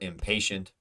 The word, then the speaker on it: impatient: innocent first syllable uh so impatient pay yes pay pay impatient is our stressed vowel sound so that is correct